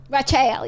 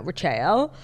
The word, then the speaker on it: Rachael: Rachael, yeah. And as somebody who is so deeply connected to, like, phonetics and language, like, her name being Rachael, pronounced Rachel, which, like, it's not that crazy.